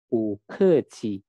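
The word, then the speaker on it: 不客气: Nah, ini cara membacanya bu ke qi. Berbeda dengan bahasa Indonesia ya. Jadi B dalam bahasa Mandarin itu dibaca dengan P. B dalam bahasa Mandarin dibaca P. Jadi BU dibacanya Bu.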